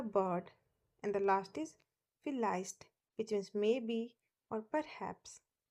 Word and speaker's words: vielleicht: In German, it is pronounced as V. In English, we pronounce it as V, but in German, V is pronounced as V and it has the sound of F.